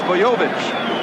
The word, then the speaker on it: Bojovic: Is it Bojovic, or what is it? Bojovic? It's Bojovic, we've been told, and if he does it again tonight, everybody will know how to pronounce his name.